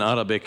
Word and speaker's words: 3arabi: No, the 3 in Arabic is the pronunciation of so it's Arabi. Okay.